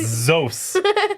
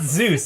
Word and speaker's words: Zos: if I'll ask chat do you think it's pronounced Zeus or zos I think Zeus sounds cooler mazos zos zos it's zos z o s it's zos not Zeus it's zos it's Zeus and no it's I'm